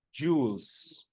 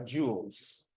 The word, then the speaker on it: joules: Alam niyo ba okay ang tamang pronunciation diyan ay joules parang mga alahas ' ba joules Okay so joules a